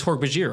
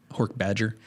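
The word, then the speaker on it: Hork-Bajir: Although I will say I didn't soften that J in Hork Bajir for the longest time. It's Hork Bajir, right? What would you say? Hork Badger. I would say Hork Bajir.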